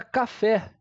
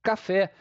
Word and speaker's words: café: Vamos à palavrinha café. A gente não fala caf e sim café.